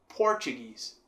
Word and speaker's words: Portuguese: Já em inglês a gente terá Portuguese. Portuguese. Por sendo então a sílaba forte.